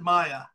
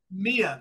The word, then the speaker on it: MIA: distinct privilege of introducing the Mia is that how I pronounce it or is it Maya Mia Mia good I got it right a quartet from Michigan